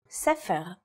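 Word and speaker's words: ספר: In the word for book or sepher, it's pronounced with a f sound.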